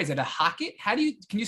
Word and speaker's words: HOCATT: Is it a Hocket? Can you spell it for our listeners that may want to? Hocket.